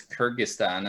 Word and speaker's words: Kyrgyzstan: critic Stan how do you how do you pronounce notes it's in English it's Kyrgyzstan and a kid keys thumb I believe it's